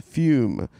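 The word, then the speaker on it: Füm: Pronounced F-U-M-E, spelled F-U with an umlaut M.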